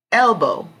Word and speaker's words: elbow: Elbow. Elbow. The strong syllable is on L.